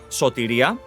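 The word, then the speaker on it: σωτηρία: this this is uh pronounced as sotiria which means salvation in Greece it grants four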